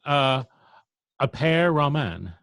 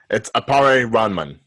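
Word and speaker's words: Appare-Ranman: So, anyway, a pair ramen. Am I pronouncing it correctly? No. Okay. It's appare ramen.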